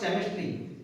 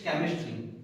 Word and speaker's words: chemistry: "Hey, it's not chemistry, it's chemistry. CH always sounds as a pronunciation ka. CH ka. That is why it is chemistry."